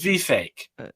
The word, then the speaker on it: Vivek: cake well I think it also rhymes with fake so to remember how to pronounce his name properly pronounce it V fake it's very close to